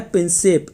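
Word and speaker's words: Prinsep: ये प्रिंसिप होगा, कभी कभी प्रिंसिप भी लिखा जाता है, लेकिन वैसे असली क्या है ये है प्रिंसिप, ये है इसका सही प्रोनाउंसिएशन, प्रिंसिप।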